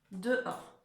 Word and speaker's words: dehors: Et or, c'est là où on va trouver le H qu'on n'entend pas, d'accord? On va pas écrire OR directement, non, non, non, on va mettre un H. Et ensuite, le son OR, comme d'habitude, c'est OR. Hein? Et il y aura un S à la fin.